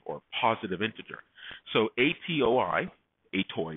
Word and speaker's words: atoi: positive integer so atoi a toy if you want to pronounce it ascii to end you're going to take